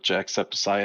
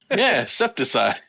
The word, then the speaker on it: jacksepticeye: no no no no say his name jacksepticeye that's that's his name isn't it i'm keeping exception septicide oh man i'm keeping a tally that's three words he's said wrong so far it's septic septic hi see it's